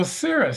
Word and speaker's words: Seirus: So then tell us a little bit about Seirus. Did I pronounce that right? Yeah, very good. Very rarely do people usually try to put the I after the R. So Seirus, so after graduating college,